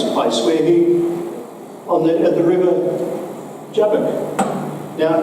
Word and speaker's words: Jabbok: But this strange event takes place where at the river Jabbok. Now, in Hebrew, Jabbok, this would be pronounced with a Y instead of a J, Jabbok, is very similar to Jacob.